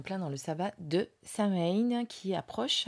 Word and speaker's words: Samhain: dans le sabbat de Samhain qui approche à grands pas. Alors certains disent Samhain, moi je dis Samhain, parce que c'est un peu comme ça que ça se prononce généralement.